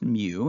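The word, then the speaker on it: μ: So a mu, looks like a U with a little tail on the left side, is pronounced mu, and that is the mean of the population.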